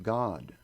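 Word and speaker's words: גד: You spell that Gimel Daled, and it's pronounced God.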